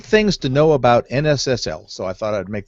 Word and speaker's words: NSSL: And one of those things is that it is not pronounced NISL, right?